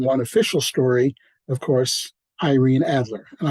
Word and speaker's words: Irene: official story of course Irene Adler and I insist on using the American uh pronunciation instead of Irene that always ring Force to my ear she was an American